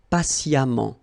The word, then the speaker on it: patiemment: So as I told you, even if you write it EMMENT, phonetically it goes like amant, patiemment.